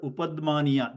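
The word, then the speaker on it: उपध्मानीय: It is called upadmaniya, that sound.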